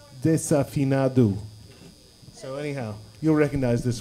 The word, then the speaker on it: Desafinado: Everyone pronounces this Desafinado, but that's not correct. It's Desafinado.